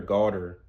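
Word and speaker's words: galdr: And garter is spelled G-A-L-D-R, garter. You basically will want to get in like a guttural throat, pause. You want to, like, in like the back of your throat, meditate the word Uruz.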